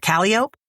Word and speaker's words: Calliope: Cause there's Calliope, but they call it Calliope.